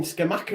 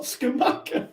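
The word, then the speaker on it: Scamacca: on what they called i keep saying scamaca in my head but it's not scumaca how do you say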